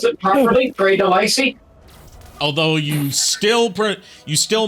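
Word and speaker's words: Grey DeLisle: It only took me, 30-something years of being alive to finally pronounce it properly, Gray Delisle.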